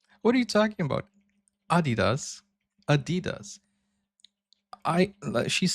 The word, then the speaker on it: Adidas: were referring to because they usually pronounce it Adidas. And in Germany, we say Adidas. Adidas. Adidas. Super different.